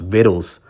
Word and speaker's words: victuals: Behold, victuals, I believe it looks like victuals, pronounced victuals, which is really food and your daily supplies and goods, your dollar store type items.